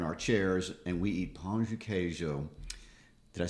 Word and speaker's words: pão de queijo: or whatever, in our chairs, and we eat pão de queijo.